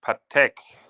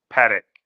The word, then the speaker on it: Patek: um there there is a question about the pronunciation and it's uh actually it's Patek and not panic Philippe uh he's saying that he's not happy